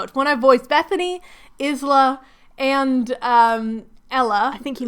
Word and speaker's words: Isla: So, in the audiobook, the author, Alex Astor, pronounces it Isla.